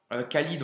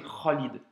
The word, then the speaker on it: Khalid: Tu l'as aussi dans le prénom Khalid, tu vois, Khalid en français. Mais quand tu le prononces en arabe, c'est Khalid, tu vois. C'est ce son-là.